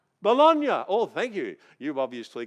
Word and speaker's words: Bologna: It's called Bologna, I think it might be pronounced, an Italian word, Bologna. Bologna.